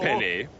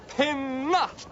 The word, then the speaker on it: Penna: Not to worry, Chief Penny. My name is pronounced Penna.